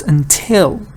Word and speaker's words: until: important pronunciation note is the stress of this word is on the second part everybody says until I don't know why even teachers say until no it's not until it's until stress is until so